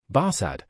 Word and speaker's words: Barsad: "Barsad," said Defarge, making it French by pronunciation.